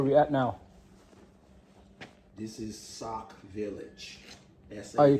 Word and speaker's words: Sauk: This is Sauk Village. Oh, you call S-A-U-K.